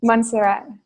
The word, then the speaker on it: Montserrat: Or how do you pronounce the mountain that you go to? Montserrat, yeah.